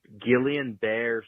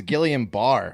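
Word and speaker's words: Guillain-Barré: a billion episodes ago it is pronounced gillian bear syndrome what johnson johnson was giving you like pointless please get the vaccine but it's gillian bear um no it's not it's gilliam bar i'm almost positive yeah see that's a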